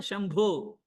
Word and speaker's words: Shambho: You know even like there are many bhajans whenever we used to sing shamboo shambho you know shambho b h o when whenever we sing rahu vira.